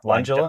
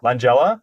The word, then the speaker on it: Langella: Langela. Langela. Langella.